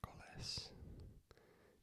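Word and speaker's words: miércoles: s lunis Tuesday is mares mares Wednesday is mes mes m i e r c o l s and E has an asento mes Thursday hes Friday be Saturday sabado Sab accento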